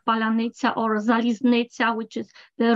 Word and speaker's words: паляниця: Petrenko says that there is a word that distinguishes Ukrainians from Russians because only Ukrainians can pronounce it properly. Palyanitsa, palyanitsa.